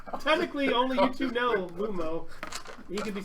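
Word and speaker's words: Lomo: So in Oromo, it's Lumo. Lumo. So just like it's spelled, yeah, L-O, and then M-O, Lumo.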